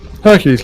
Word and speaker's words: Hercule: You pronounce it. Yes, you do.